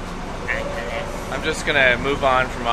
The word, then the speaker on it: Angeles: You pronounced it right. Yeah, Angeles.